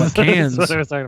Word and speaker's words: Cannes: I didn't even It's hear pronounced cans.